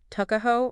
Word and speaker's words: Tuckahoe: It's fascinating how we even point out that the name Tuckahoe, pronounced Tuckahoe, might reflect that poverty.